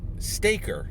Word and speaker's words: Stayker: scott garabay word and the word is um staker s t staker i'll spell it s t s-t-a-y-k-e-r stay and see k-e-r